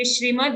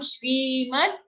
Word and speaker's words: Shrimad: Don't say Shrimad, it's a long E sound. Shrimad Bhagavad, full G sound, not Bhagavad.